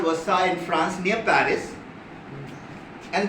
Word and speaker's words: Versailles: It is written as Versailles, but I think it is pronounced as Versailles.